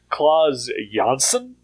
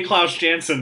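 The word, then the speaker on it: Klaus Janson: fun yeah uh oh the one comic Creator name who I'm guessing 99% of everybody has uh pronouncing it incorrectly for his entire career uh is um um now I can't think of his name oh no oh that is a really wrong way to pronounce somebody's name oh uh Claus yanson re oh wow okay yep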